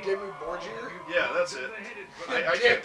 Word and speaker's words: Dimmu Borgir: Oh, that's Demo Burger. What the fuck are they doing here? You mean Dimmu Borgir?